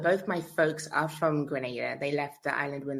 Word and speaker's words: Grenada: having having me and congrats on getting the pronunciation of grenada right because so many people like granada i'm like no it's grenada i'm i'm grateful that